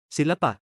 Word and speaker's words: ศิลปะ: The word for advertisement โฆษณา loses its final T sound in the first syllable, ศิลปะ meaning art drops the N sound, อิสระ meaning freedom lets go of its T sound.